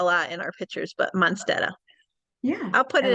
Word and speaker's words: Monsteta: Monsteta?